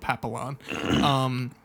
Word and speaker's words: Papillon: It's spelled Papillon, but it's Papillon, and tells them where to find him, which is at a club.